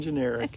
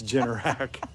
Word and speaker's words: Generac: You're saying generic. It's Generac.